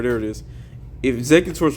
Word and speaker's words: Exeggutor: Um, Exeutor, there it is. If Exeggutor is like the only one, Exeggutor with Erica is like the only one that's going to maybe counter that.